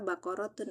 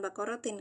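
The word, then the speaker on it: بقرةٌ: Baqaratun. Makanya saya bacanya li baqaratun gitu. Bukan baqaratin, Kak.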